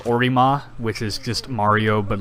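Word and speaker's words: オリマー: Because Olimar is in Japanese it's a Orima, which is just Mario but like altered.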